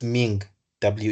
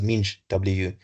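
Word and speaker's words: MinGW: no Ming W so what is this Ming W it's actually pronounced as m W so what is this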